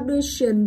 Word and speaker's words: pollution: Tiếp theo pollution thì trọng âm sẽ rơi vào âm tiết đứng ngay trước nó.